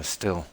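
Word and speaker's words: Stihl: Although the German brand uh still I think it's pronounced still.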